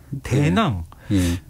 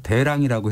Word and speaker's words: 대랑: 그리고 나머지 한 사람 대낭. 경문왕이면 경문왕이고 뭐 왕자면 왕자지 왜 대낭이에요? 그 명문을 보면은 이렇게 돼 있어요. 경문왕주, 문의황후주, 대낭주. 그러니까 우리 발음을 화랑도 화낭이라고 안 하잖아요. 그래서 대랑이라고 해야 된다 그러더라고요.